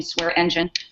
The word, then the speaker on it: Swearingen: The other is Ashley Swearingen, pronounce her name Swearingen, who's a Fresno mayor, and she's running for controller.